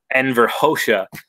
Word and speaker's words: Enver Hoxha: kosha because Rodin's telling me that's how to pronounce it Enver Xhosa was the one to build all those bunkers